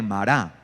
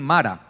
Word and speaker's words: Mará: las aguas amargas de mará algunos dicen Mara Bueno pero la la pronunciación correcta es mará sí de mará Okay